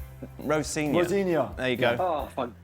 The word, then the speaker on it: Rosenior: Rosenior. Rosenior.